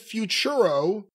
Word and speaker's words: Futuro: Number eight, Santana Jackson, tied with Futuro.